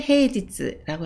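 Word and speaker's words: 平日: 그리고 하나로 읽을 때는 누시라고 읽습니다. 세 번째 한자는 평평할 평입니다. 평일을 헤이지츠라고 하고요.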